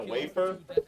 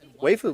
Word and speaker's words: waifu: What is it, a wafer? Waifu, bro. It's spelled like wafer.